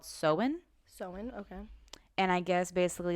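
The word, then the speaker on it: Samhain: of celtic festival and the town name is spelt s-a-m-h-a-n not the town but that's what the festival was called it's called it's called sowen okay and i guess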